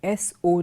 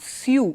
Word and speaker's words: sew: I told you before s o w so it's not su it is so and it's a sewing machine it's not a suing machine similarly s a W